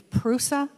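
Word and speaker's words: Προύσα: bursa in asia minor pronounced in greek it's prusa and they took it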